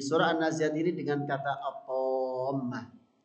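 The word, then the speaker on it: الطامة: an-naziat ini dengan kata atamah cara bacanya saja merupakan bacaan yang matnya paling panjang ee yaitu kalau kita tahu enam harakat atau Enam gerakan jadi ini menunjukkan berat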